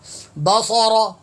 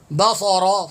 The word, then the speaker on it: البصر: بصرنی، فرجع البصر، بصر، یہاں سین کافی حضرات تلفظ غلط پڑھتے ہیں، بصر، سین، سین پڑھتے ہیں، سین کی ادائیگی کرتے ہیں، سیٹی مارتے ہیں، سین نہیں ہے، صاد ہے۔ فرجع البصر، فرجع البصر،